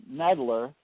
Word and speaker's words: Knedler: Our write-in candidates are Bob Bridges, Bridges, for Auditor of State, and Kevin Nedler, that's spelled Knedler, for Secretary of State.